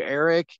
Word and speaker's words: Éraic: Eric in Irish mean has the meaning of it's